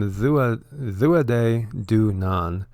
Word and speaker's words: Tuatha Dé Danann: And so you pronounce them Tuatha Dé Danann, and it's translated as the tribe of Danu.